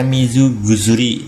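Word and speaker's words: 水薬: Ini ada kanji Mizu, ada kanji Kusuri. Nah, ini bacanya Mizugusuri.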